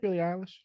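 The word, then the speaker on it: Billie Eilish: from that yeah yeah I mean I like Billy Alish you I think I pronounced her name right did I pronounce her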